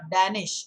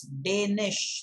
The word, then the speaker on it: Danish: and by the way it's not danish it's danish like day and night day danish make the